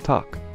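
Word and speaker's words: takk: or daughter daughter 13 hello and Icelandic is pronounced Hollow thank you is talk yes is yah no is nay goodbye is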